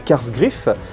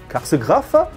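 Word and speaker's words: Kasr Kraf: Il y a une des forteresses qui n'a pas été détruite, elle s'appelle Karsgraf, on le prononce en allemand, mais enfin bon, ça a une consonance allemande, donc K-A-S-R, plus loin K-R-A-F, Karsgraf.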